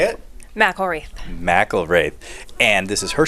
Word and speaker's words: McElreath: And we're here with, and I've been saying her name wrong all this time. Say it. McElreath.